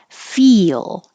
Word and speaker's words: feel: Feel is almost two syllables. So if you think of fee, your tongue has to rise very high to the E position and then it slides down to the L.